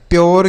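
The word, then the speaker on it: pure: आगे बच्चों समझ में, तो यू के बाद आर ई रहे तो यू का जो उच्चारण होगा वह यो के रूप में होगा, प्योर, क्योर, श्योर, ड्योर, म्योर।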